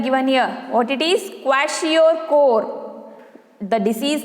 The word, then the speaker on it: Kwashiorkor: Listen the pronunciation. Kwashiorkor. Kwashiorkor.